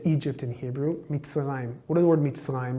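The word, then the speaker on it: מצרים: Mitzrayim.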